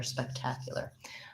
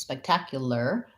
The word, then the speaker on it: spectacular: sounds better spectacular um so it does have a clear vowel but it's fast spec tack here's my stress syllable with my black cat vowel spike so it's spectacular this ar says the er sound so just an er even though it's spelled